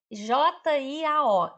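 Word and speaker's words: 交: Jiao é novo. J-I-A-O. É primeiro tom, primeiro tom.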